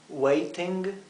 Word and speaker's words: waiting: We are waiting for her. Fíjense que el gerundio, el ing, se pronuncia claramente, es waiting, ¿verdad?